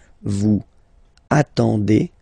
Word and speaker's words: attendez: Vous form, same thing, classic ending for vous, ez, okay. When you combine the two, you get the sound et, okay. Vous attendez, attendez, okay.